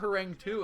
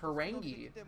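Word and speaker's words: Harang2: And I've been informed that it's not Harang 2, it's pronounced Harangi. And I'm just going to keep it old school and keep the 2 in there because why not? I've been saying it that way my entire life, but that's hilarious that it is pronounced Harangi.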